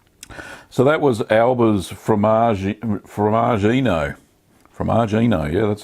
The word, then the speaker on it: formaggino: Formaggino, yeah, that's how you say it.